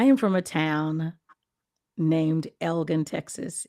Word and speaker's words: Elgin: I am from a town named Elgin, Texas. Elgin.